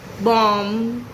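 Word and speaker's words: bomb: तो सबसे पहले बात करते हैं ऐसे वर्ड्स की जिनमें एम के बाद आता है बी और ऐसे में बी हो जाता है साइलेंट, जैसे क्लाइम, थम, बॉम्ब एक्सेट्रा।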